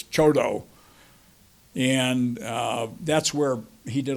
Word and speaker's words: Choteau: For those of you who speak French, it looks like it's Choteau, but that's not how they pronounce it in Montana. It's Choteau.